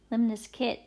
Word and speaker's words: lemniscate: then we have lemniscate it's actually limbless kit lemonis kit I don't know why but that's how you pronounce it I looked all